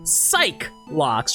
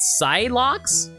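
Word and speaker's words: Psyche-Lock: okay just to confirm it is pronounced psych loocks right and not Psych locks I I I think it's pretty sure I'm pretty sure it's cycl loocks so she must be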